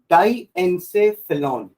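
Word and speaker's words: diencephalon: डाइएन्सेफेलॉन, Elon नहीं, ठीक है?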